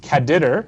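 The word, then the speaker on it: caddr: functions that combine this so you can use caditor and that is how it's pronounced and all that it is is there's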